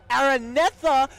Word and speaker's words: Araneta: to say it properly alright cuz I've been pronouncing it so template the Smart Araneta Coliseum okay the place you want to be